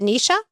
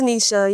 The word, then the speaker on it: Nisha: Is it Nesha? It's Nisha. You got it.